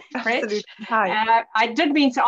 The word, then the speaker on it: Pretsch: Have I said that right? Pretsch, yes. Pretsch.